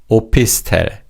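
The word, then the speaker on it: 오피스텔: Opist. And this is a combination of two English words office and hotel. Office tail.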